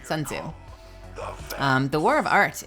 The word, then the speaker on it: Sun Tzu: art of wars at Sun Sao sorry I am saying the name wrong Sun Tzu um the war of